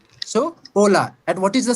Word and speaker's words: hola: It is never pronounced. Her sound is not there. It means, like, if you have to say hola, that's a most famous and interesting word in Spanish.